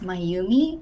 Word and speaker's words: Mayumi: My name is Mayumi. It's pronounced um my you me.